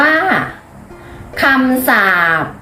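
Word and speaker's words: คำศัพท์: คำ ที่ 4 ค่ะ คำ ศัพท์ อ่าน ว่า คำ สัพ คำ ที่ 5 ค่ะ คีย์บอร์ด อ่าน ว่า คีย์บอร์ด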